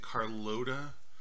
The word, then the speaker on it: Carlota: By the way, I'm pronouncing it Carlota because, I mean, so I have an aunt whose name is Carlotta, and actually we call her Cookie for short.